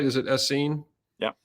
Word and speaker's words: Essenes: Am I pronouncing that right? Is it Essene? Yeah, Essenes.